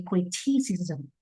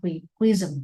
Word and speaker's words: criticism: and accepting here okay criticism not quism quism a pronunciation again I know that you have worked on the pronunciation very hard but I yeah I feel very satisfied with okay your job crazy and B all together and especially crazy because you have you have performed really well in this presentation your pronunciation your cramar everything about your talk is perfect all right but all right criticism not critism pronunciation mes first and